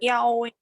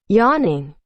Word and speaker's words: yawning: Yowing. Yowing? Yawning. Yawning. Ah, with an N. Yawning. Pay attention to the pronunciation here.